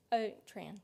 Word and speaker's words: Trahan: Trahan? I am pronouncing that right, am I? Tran, yes.